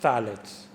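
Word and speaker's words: phthalates: it's known as Talent it's pth a-l-a-t-e-s salads pronounced salads it's a chemical put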